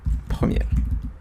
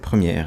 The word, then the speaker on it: Premiere: pour travailler sur Adobe Premiere. Je pense que ça s'écrit comme ça, mais je pense que c'est Premiere et non pas Premier.